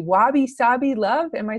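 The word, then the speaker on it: wabi-sabi: this, and I don't even know how to pronounce it correctly. Wabi Sabi love.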